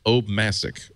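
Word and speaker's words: Obmascik: own last name it's it's at the end see I that that's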